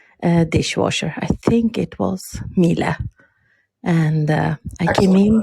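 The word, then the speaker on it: Miele: I think it was Mila. And I came in. Pronunciation there, by the way, Mila.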